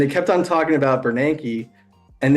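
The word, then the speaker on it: Bernanke: kept on talking about banki and they couldn't pronounce his name they they were calling him bernoni and it's like here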